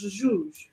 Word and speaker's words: Jesus: Yeah, My- it's how you pronounce Jesus in Yeah, Wasn't because just- they don't don't have- the J's and S's make weird noises. So Jesus in Portuguese is pronounced Jesus.